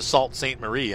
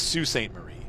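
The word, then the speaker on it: Sault Ste. Marie: and I'm like um it's Sue St Marie it's pronounced Sue and he's like no it's salt I'm like okay Dad whatever you say Salt St Marie I'm like that's why they call them the Sue locks it's not Salt St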